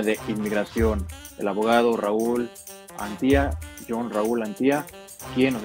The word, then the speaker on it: Antía: Ahí pueden encontrar la información del abogado John Raúl Antía. ¿Estoy pronunciando su apellido correctamente? ¿Cómo lo pronuncia? Sí, así es, Gerardo. Antía. Pone como si fuera un acento sobre la I.